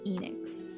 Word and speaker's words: Enix: If it is half the word Phoenix, then it should be Enix, you know?